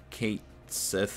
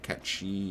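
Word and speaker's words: Cait Sith: done but it did whatever hey they said kate sith instead of catchy and the only reason why the name bugs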